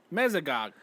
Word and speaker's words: Mesogog: The bad guy from Dino Thunder, Mesogog.